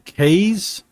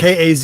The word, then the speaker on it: Kaze: Did you say you were playing K's? Yeah, I don't know how you say it. K's and the Wild Masks. Oh, okay. It's Kaze.